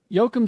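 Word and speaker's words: Joachim: would that be pronounced The The J would be a why Yocum said uh the absolute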